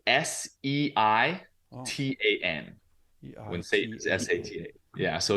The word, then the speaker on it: seitan: vegans are a food which is called seitan um and you know like kind of a play on Satan but it's Satan so